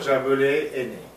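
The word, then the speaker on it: Jaboulet Aîné: Paul Jaboulet-Henné. Henné. Très bien. Paul Jaboulet-Henné.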